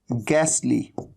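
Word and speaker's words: ghastly: एक तरीका होता है गैसली। तो आप देख रहे हैं एच का तो साउंड है ही नहीं, ह का तो साउंड ही नहीं है।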